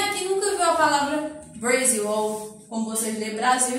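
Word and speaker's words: Brazil: Porém, na língua inglesa a gente escreve Brasil com Z, a pronúncia é Brasil.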